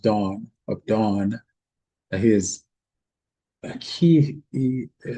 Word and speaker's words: Dan: Gileo, the son of uh Perzu of uh By Abidan, the son of Gideon um of Dan, which is actually pronounced Dawn of Dawn.